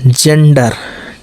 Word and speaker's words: gender: जो है गा, लेकिन जब जी के बाद ई या वाई हो तो इसका उच्चारण जा होता है। जैसे देखिए GEM, देख रहे हैं ई, तो जेम, जेम मतलब मणि। GENDER जेंडर, जेंडर, जेंडर का मतलब